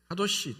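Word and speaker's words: קדוש: 그 히브리어로는 카도시 또는 코데시라고 이렇게 발음을 하는데 분리하다는 뜻입니다.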